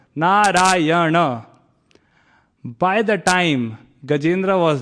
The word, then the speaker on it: Narayana: It is said that Gajendra called out Narayana, 4 syllables, Narayana.